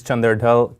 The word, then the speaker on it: Chander Dhall: Hello, my name is Chander Dhall, commonly pronounced as Chander Dhall.